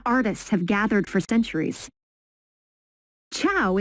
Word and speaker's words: ciao: have gathered for centuries tchau is how you say hi in Italian go ahead give it a try ciao perfect you'd fit right